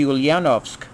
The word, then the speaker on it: Ulyanovsk: And if I'm correct, and if I pronounce this wrong, it should be Ulyanovsk.